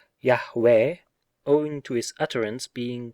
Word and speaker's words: Yahweh: The divine name Yod He Waw He, the proper pronunciation of which seems to be Yahweh, owing to his utterance